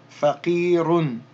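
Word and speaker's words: فقير: Here we have a fa, fatha, fa, qaf, kasra, qi, faqi. Elongate that with the ya, faqi, and then the ra with the dhammatan, run, faqirun, Faqirun. Drop the un. Faqir.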